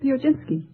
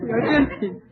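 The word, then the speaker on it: Piechocinski: how do you pronounce your name? Pioginski. Would you mind spelling it? P-I-E-C-H-O-C-I-N-S-K-I. Now pronounce it again. Pioginski.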